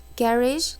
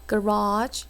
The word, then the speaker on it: garage: 저거 단어 garage. 하나 garage 발음 두 개다. garage garage 3번.